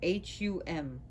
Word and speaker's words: hum: Then the letter hum, H-U-M, hum.